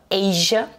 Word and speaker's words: Asia: Hein, l'Asie, on va dire Asia. Alors là, vous constatez que le A de Asia, ça se prononce A. Donc là, c'est le A de l'alphabet anglais.